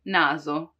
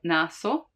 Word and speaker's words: naso: in between two vowels when the s is in between two vowels like in naso naso nose naso you see it's not naso which would be the s from sorella sister but more like which